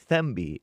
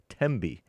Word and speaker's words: Tembi: Mami Africa, Tembi. Bought our coffee. Hake, you pronounced my name perfectly yesterday. It's with a hard T. It's not Thembi. It's Tembi.